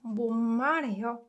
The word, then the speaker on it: 못 말해요: And the other things too, you can pronounce this one 못 말해요 as well. 못 말해요.